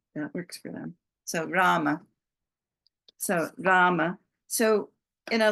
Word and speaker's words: Rama: then we've got Rama that's a long a in Rama so we've got we we did the R so here's the r and it's a long a so we do that ra and the ma is